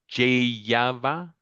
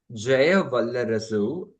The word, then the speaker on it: Jaya Vallarasu: Jayava? Yeah, Javalia? okay. I can help you with that. Okay. My Tamil name is Jaya Vallarasu. It is actually a lengthy name.